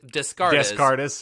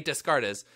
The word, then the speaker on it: Descartes: actually made it and I know how to pronounce his name it's not to discard artists yeah yes Rene descartes's but he was the